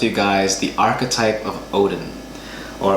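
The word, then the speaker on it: Óðinn: guys the archetype of Odin or Athena as his name is pronounced because the D is actually a thorn and that has a th sound in Icelandic and I wanted to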